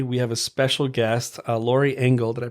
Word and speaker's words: Lori Engel: We have a special guest, Lori Engel. Did I pronounce that right? Yeah. Okay, so Lori Engel.